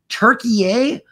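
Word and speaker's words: Türkiye: like wait a minute turkey a he's like yeah that's how you pronounce it and I'm like now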